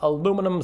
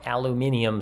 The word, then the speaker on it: aluminium: is hopelessly complex it's aluminum sulfate okay or aluminium sulfate if you're watching this video in a country that pronounces the element aluminum correctly so we got aluminum